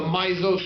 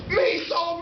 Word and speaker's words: miso: ] take mushrooms and the mizo soup and the girl's like miso miso like me so horny it's good when